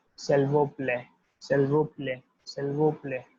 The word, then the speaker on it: s'il vous plaît: Please will be just like delivered as it is written, s'il vous plaît, s'il vous plaît, right?